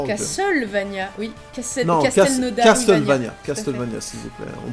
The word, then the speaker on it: Castlevania: Castlevania, Castlevania, s'il vous plaît. On prononce bien.